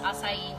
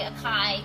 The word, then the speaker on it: acai: It is pronounced acai, by the way. Sometimes people say acai when they come into Glow Bio, but it's just an amazing, amazing beauty food.